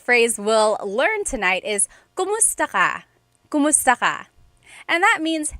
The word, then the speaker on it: kumusta: If you hear my pronunciation and then other people, when they say it, usually they say kamusta ka? Kamusta ka. So it sounds like it's spelled with a letter A, K-A-M, but technically it's spelled with a K-U-M.